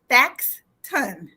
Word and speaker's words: Thaxton: office assistant is mr thaxton most of you have said what's his name how do you say that it's spelled here for you it's t-h-a-x facts ton and he is here